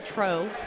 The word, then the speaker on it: Truax: Now they are throwing against Scott Greenwood and Travis Truax, which I laugh at. It should be Tro. But apparently somebody didn't know how to pronounce it.